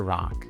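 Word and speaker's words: Rak: Rock. That's spelled R A K and pronounced R O C K.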